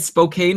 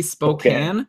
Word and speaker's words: Spokane: eye on Kaylor Yamamoto apparently I said Spokane wrong it's supposed to be Spokane yeah but it's spelled